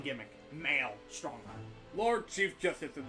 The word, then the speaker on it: Mael: You can literally just pronounce it Male Strongheart. Mael Strongheart. That's his name gimmick. Male Strongheart.